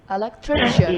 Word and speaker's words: electrician: You got the word right, but where is the stress? Electrician. Electrician. Electrician. Electrician. Electrician. Electrician. Because remember, IAN changes the stress. So the whole point of this exercise is putting the stress on the correct syllable.